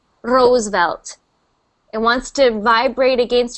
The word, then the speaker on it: Roosevelt: Roosevelt. Roosevelt. Yes. Roosevelt. Roosevelt. Roosevelt. Good, good. So see how far back my tongue is when I make that R sound?